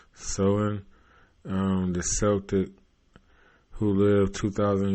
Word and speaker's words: Samhain: Halloween's origins date back to an ancient Celtic hunky shit festival of Samhain, pronounced Samhain.